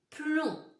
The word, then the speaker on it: plomb: La dernière syllabe que nous allons écrire, c'est plomb, comme dans plonger.